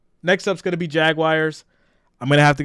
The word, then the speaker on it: Jaguar: So when we say Jaguar, it sounds like the word jag and then the word wire. So whenever I say that, I always get picked on. Or like, Jaguar. Like it's supposed to just flow out.